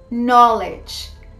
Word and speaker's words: knowledge: today we're gonna see nine words in which the k sound is not pronounced so let's see number one no no i don't know what you're talking about number two knowledge knowledge teachers have a